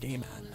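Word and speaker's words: Gaiman: Neil Gman is that I heard his name pronounced gayman Neil gayman in Neil G's book um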